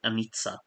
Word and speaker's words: Anika: Um, oh, Anika is pronounced Anitsa.